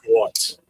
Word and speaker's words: Schwarz: Half the time when people say his name, it sounds like they're saying Jim Shorts. That's why I start laughing instead of saying Schwarz, you know.